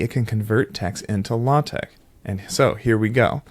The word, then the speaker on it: LaTeX: is code maybe it can convert text into latch and so here we go so you're going to hear me say latex because I'm using transcription and I just want